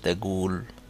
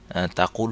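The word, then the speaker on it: تقول: Saudi ডায়ালেক্টে কাফের উচ্চারণ অনেকটা গ এর মতো, যেমন এই জায়গায় আমি পড়ছি এশ তাগুল। স্ট্যান্ডার্ড অ্যারাবিকে কাফের উচ্চারণ তাকুল হতো, কিন্তু সৌদি ডায়ালেক্টে এশ তাগুল তুমি কি বলছো, হোয়াট ডু ইউ সে।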